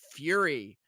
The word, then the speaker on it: Furi: But Fury. Okay, it's spelled Furi, and it is one of the greatest games I've played this decade.